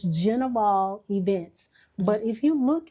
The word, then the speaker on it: Gnivol: they don't spell it or they don't actually pronounce it it's genal events but if you look at G ni